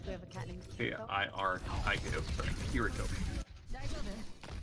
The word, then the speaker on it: Kiriko: It's how it's spelled. No, it's K I R K O. Because we have a cat named K-I-R-I-K-O. Kiriko. Not Kimiko.